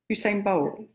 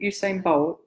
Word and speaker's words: Usain Bolt: the day was a great sprinter who's yeah Hussein bowls how do you say to me yes you saying I think Usain Bolt yeah so then anyway I'm gonna had that